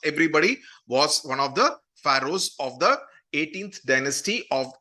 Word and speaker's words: pharaoh: another term which you should be aware of pharaoh that's how it is pronounced okay p h a r a o